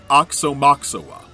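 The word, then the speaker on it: Aoxomoxoa: say the album title, Oxomoxoa. Presumably, the opening A is silent.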